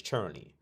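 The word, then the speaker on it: černý: But you pronounce it churny because we're the only ones that say R's like an R.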